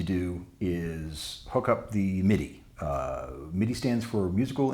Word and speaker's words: MIDI: instrument digital interface uh I have heard it pronounced M1 D1 once in college at Tech Tech University and um also other people in Texas sometimes say my die as well which is which is interesting I I think it's